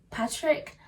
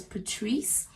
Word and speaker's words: Patrice: thing with that video is that i kept pronouncing his name as patrick which i do apologize but yeah i've since you know obviously learned that his name is pronounced as patrice so i apologize to you all patrice fans